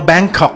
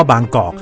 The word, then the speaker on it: บางกอก: ดี ๆ มี คน มา บอก ว่า บาง กรอบ เนี่ย ต้อง ออก เสียง ว่า แบงค์ ตาม สำเนียง ฝรั่ง เนี่ย ไม่ มี ใคร เขา ทำ กัน หรอก ครับ เพราะ ว่า Bangkok มัน มา จาก คำ ว่า บางกอก ไม่ ใช่ ว่า บางกอก